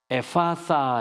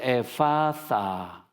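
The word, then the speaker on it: Ephphatha: 자, 그러면 엡실론 피타 알파 그래서 발음을 에파사 이래. 에파사. 에바다가 아니라 에파사.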